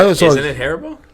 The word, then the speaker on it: Haribo: Isn't I it, was always- isn't it Haribo? Haribo, yes, not Haribo. I mean, who cares about the emphasis on the wrong syllable?